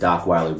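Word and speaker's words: Dockweiler: And Docweiler Beach rhymes with rot rhymes with the black person vision of Rottweiler cuz black people do not know how to say Rottweiler.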